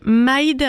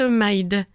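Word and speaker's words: Myd: Et l'artiste, c'est Maïd. Alors, c'est français, ça s'écrit M-Y-D. C'est sorti en 2017 et ça nous vient de Lille. C'était donc All Inclusive de l'artiste Maïd.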